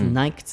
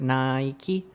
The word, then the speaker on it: Nike: topic for today is Nike's TV commercial. Not TV, sorry. Nike's commercial. Yeah. And then, first of all, you pronounce the word Nike? Nike. No, Nike. Nike, yeah. Very interesting. So only in England.